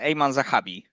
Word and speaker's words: Aiemann Zahabi: How do you pronounce the other guy's name? Aiemann Aiemann Zahabi.